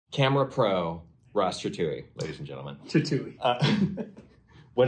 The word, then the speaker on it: Trethewey: Trethewey, yeah. Ross Trethewey. Jeez, it's hard to say. It is a hard one, yeah, I know. Yeah, Rhymes with chop suey.